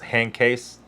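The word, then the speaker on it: Handkäse: you pronounce that either and uh it's actually pronounced hand case which i guess is was there a date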